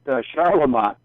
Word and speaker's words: Charlemont: I think we call it Charlemont. That's right. Yeah, I was hoping for you to pronounce it because I wasn't going to butcher it on the air.